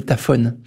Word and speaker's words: tafoni: En Corse, il existe un truc, d'ailleurs, que je croyais ne pas trouver ailleurs, qu'on appelle des tafones. Ça s'écrit tafonie. C'est des sortes de trous dans le granit qui font un peu comme du trou dans un emmental.